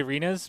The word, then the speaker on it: Rinus: I feel like new fans struggle to say Rinus because it rhymes with something that you're not supposed to say.